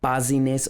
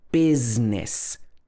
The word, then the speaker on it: business: This is not buzziness or busyness. There's no I in the middle, even though the letter is in the word. It should be business.